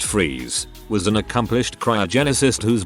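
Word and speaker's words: Fries: to most mr freeze dr victor fryes pronounced freeze was an accomplished cryogenicist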